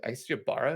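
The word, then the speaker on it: Ybarra: the current co studio lead uh mike uh i see you bara is how you pronounce this last uh mike uh has been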